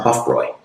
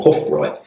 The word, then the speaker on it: Hofbräu: which makes the sound Hofroy in German or Hoffroy because the O's are a little bit different pronounced in German than English.